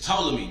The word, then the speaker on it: Ptolemy: patrolling me excuse me this is ptolemy the p is silent this is totally geography